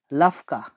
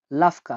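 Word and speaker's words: лавка: আর দোকানকে বলা হয় দেখুন লিখে দিচ্ছি এটা LAVKA, লাফকা। লাফকা।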